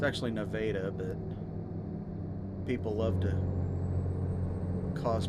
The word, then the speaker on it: Nevada: It's actually Nevada, but people love to cause problems with pronunciations.